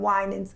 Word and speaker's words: Winans: Vicki Winans and Marvin Winans, of course, senior from the gospel royalty, the Winans. He's going to be speaking on Sunday. So everyone's saying their last name wrong. That's what I'm hearing? It's Winans.